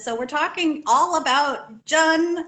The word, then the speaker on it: jun: we're talking all about jun which rhymes with fun you might also know